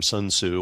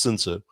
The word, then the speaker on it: Sun Tzu: to pronounce his name, Sun Tzu, or in the more Asian way, it's pronounced Sun Tzu.